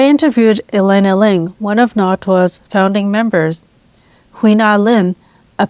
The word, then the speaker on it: NATWA: the organization's acronym as NATWA because I didn't realize that it was supposed to be pronounced NATWA, which is the Taiwanese Hokkien pronunciation of the words meaning growing or expanding.